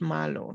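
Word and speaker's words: Marlowe: So I think that the Cardano team, they call it Malo. So the Y, the E at the end is silent, I think.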